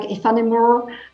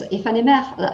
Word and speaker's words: Aephanemer: They pronounce it like in English, like AEPHANEMER, it's AEPHANEMER in French.